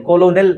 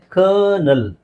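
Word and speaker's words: colonel: ಓ ಕೋ ಎಲ್ ಓಲಎನ್ಎಲ್ ಕೋಲೋನಲ್ ಅಂತ ಅನ್ಸುತ್ತೆ ಬಟ್ ಇದರ ಸರಿಯಾದ ಉಚ್ಚಾರಣೆ ಕರ್ನಲ್ ಕರ್ನಲ್ ಕ ನಾವು ಅದನ್ನ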